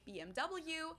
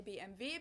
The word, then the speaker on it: BMW: yeah great BMW BMW in English people say BMW in German we say BMV because W is v v in German oh and it stands